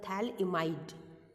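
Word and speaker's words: phthalimide: ठीक है, थैलेमाइड के अंदर PH आपका साइलेंट होता है, इट्स अ थैलइमाइड सिंथेसिस रिएक्शन।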